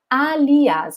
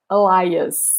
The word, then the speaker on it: alias: alias the word is alias okay pay attention because the pronunciation is very different in english alias doesn't mean elias no what is the